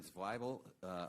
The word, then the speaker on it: Zweibel: Mr. Ken Zweibel, I'm reminded here by my staff, rhymes with Bible.